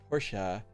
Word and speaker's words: Porsche: The E is not silent. It's called Porsche.